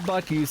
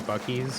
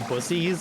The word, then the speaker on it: Buc-ee's: they stopped at a Buc-ee's on the way there. And my dad kept pronouncing it Bussies, and I was like, nope, that's not it.